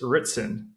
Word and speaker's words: Ritson: Welcome back to Prospecting Pros and on today's show we have Ritzen. Welcome to the show. Hey man. Yeah, thanks. Did I pronounce that correctly?